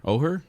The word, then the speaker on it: Oher: story of Michael Oher oh her is how you say it or or Michael or yep a homeless and traumatized